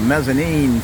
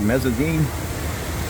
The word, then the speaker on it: mezzanine: Mezzene. And then the first floor. Mezzene was the word I was going for, and I didn't even say it correct there. Mezzanine.